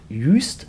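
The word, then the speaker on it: Juist: 6 Meilen weiter nach Jüst, spricht man das, glaube ich, aus.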